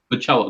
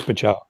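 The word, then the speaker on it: Bachalo: Yeah, you did mispronounce it, but I didn't want to correct you. Pacello. No, I appreciate it. Okay, yeah. So it's Chris Pacello.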